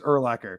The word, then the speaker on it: Urlacher: Did you ever see the commercial with is it Brian Urlacher? Is that how you say it? Is it? Yeah. It's Urlacher. Yep.